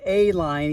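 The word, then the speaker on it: Ehline: It's pronounced A line even though it starts with an E, and that's a 29 by 2.5, and that's that soft, or the light and supple to tread.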